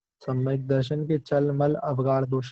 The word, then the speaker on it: काच: ध्यान रखना, ऐसे कई सारे लोग कांच पढ़ते हैं जबकि ऊपर कोई बिंदु नहीं है, तो कांच नहीं काच है।